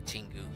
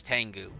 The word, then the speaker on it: Tengu: there we put the tingu here I know it's tangu but I go tingu for some reason that's the way I've always pronounced it but I know it's Tengu yeah black carapace so